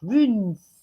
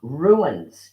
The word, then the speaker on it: runes: Runes. runes. Runes. Runes. Guys, it's not ruins, it's runes. Runes. Don't be Okay. tricked. Don't be tricked by Annie's accent.